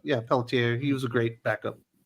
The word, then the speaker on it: Pelletier: Is that how you say it? Pelletier? No, Pelletier.